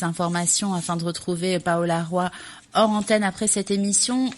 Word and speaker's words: Roy: Alors Roy, ça s'écrit comme roi, R-O-I.